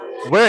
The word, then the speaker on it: were: Were ya, kita cek. Ya, bacanya were, bukan where ya, were. Ya, kalau where itu yang di mana ya artinya ya. Jadi bacanya were.